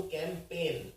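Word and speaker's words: campaign: जी एन राहत है लेकिन अगर मैं बोलूं कैंपेन पेन मतलब होता है दर्द तो लोग कर देते हैं पाली पे लेकिन इसमें ये वाला पेन नहीं है तो इनकी स्पेलिंग देखिए इसमें कैसी है पी ए आई एन नहीं है पी ए आई जी एन है कैंपेन तो काम तो सब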